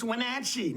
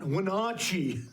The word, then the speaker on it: Wenatchee: of our town correctly it's wachi not wachi I mean good grief I mean how hard is that this is